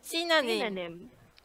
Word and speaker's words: synonym: him sit on him we have to go high a little bit on the first syllable okay Tina name synonym synonym correct pronunciation very good alright now let's